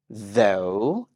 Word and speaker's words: though: word though though and it trimes with go though go though go I